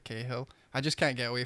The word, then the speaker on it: Cahill: I say Cahill. I don't listen to anything, and just the stream last week just went mental because I said Cahill instead of Cahill.